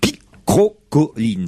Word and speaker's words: picrocholine: Et effectivement, Claude Allègre a qualifié les rapports entre les socialistes de guerre picrocolline. Ça s'écrit P-I-C-R-O-C-H-O-L-I-N-E-S. Mais on ne dit pas picrocholine.